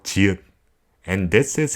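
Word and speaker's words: 지읒: Chiut has the sound of when you pronounce tigut, but after your tongue is released from the roof of your mouth, you add in a shio sound.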